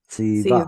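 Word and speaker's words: צִוָּה: Oh, How do you pronounce that? Tzi. Tziva.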